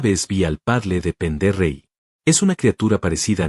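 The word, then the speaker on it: Pend Oreille: Por cierto, se pronuncia Pondore.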